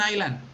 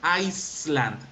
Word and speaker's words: island: Where can you see an island? B. B in B. And remember friends, you do not pronounce Iceland. Uh-uh. You pronounce island. Island. Island. Exactly. The letter S is silent.